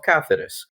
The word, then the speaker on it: Cáceres: the 1 of December in the city of cathis yes I'm pronouncing it with this C notice I avoided